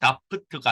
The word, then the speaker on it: doubt: 이 doubt는 B가 묵음이에요. doubt가 아니고 doubt 이렇게 읽습니다.